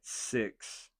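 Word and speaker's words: Sicks: don't but you know the Wyatt 6 and I know it's spelled s i c KS but if there was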